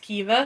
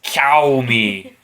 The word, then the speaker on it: Caoimhe: name is spelled Caoimhe, but that's pronounced Kiva. Yeah, it looks like it's cow me, But it's Kiva.